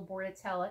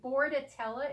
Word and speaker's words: Bordetella: everybody get the oral board at Ella if you must get it okay and Bordetella is spelled Bo AR D not boa Rd it's an unfortunate coincidence that it sounds like boarding and that vets often